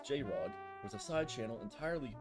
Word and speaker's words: JR0G: JR0G, pronounced J-Rod, was a side channel